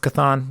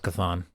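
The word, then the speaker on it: Chthon: the darkhold introduced um i think it's pronounced kathon i'm going with kethon so um we all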